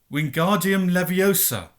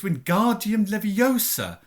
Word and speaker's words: Wingardium Leviosa: having much more luck Wingardium Leviosa he shouted waving his long arms like a windmill you're saying it wrong Harry hurt my knee snap its Wingardium Leviosa make the GAR nice and long you do it then